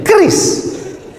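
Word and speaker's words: QRIS: Kis. Cara bacanya gimana sebetulnya? Keris.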